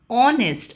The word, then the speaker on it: honest: We don't say hest. We don't give out the sound of H as her. However, we eliminate the sound of her and we say o honest and o is a vowel sound and that's the reason why it'll be an honest boy.